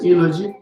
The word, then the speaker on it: eulogy: Is it eulogy? E-U-L-O-G-Y. Eulogy. Okay, eulogy. E is silent. Yes. Eulogy. What does it mean?